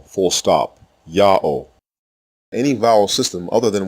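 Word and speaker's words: יהוה: The only consonant heard in God's name is the first letter ya.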